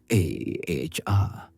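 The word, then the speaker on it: ʻaʻā: Ah, pronounced a hr is rough jagged lava that forms a clinkery broken surface as it cools.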